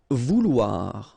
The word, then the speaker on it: Vouloir: Vouloir, okay, O-U, ou, and then O-I, oua, so vouloir, okay.